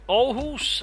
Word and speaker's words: Aarhus: Otherwise you got Hedeby, Ribe and Aarhus. I'm basically using the Danish names as they're supposed to be pronounced in Danish for them, by the way.